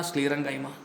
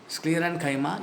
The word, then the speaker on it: sclerenchyma: Parenchyma, collenchyma, sclerenchyma. Paren, colon, scleren. Pronounce that. Paren, colon, scleren. Parenchyma, collenchyma, sclerenchyma.